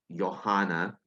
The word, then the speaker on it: Johann: name is pronounced as Johanna because this guy is a German because it's Germany in German uh J is pronounced as y okay and I think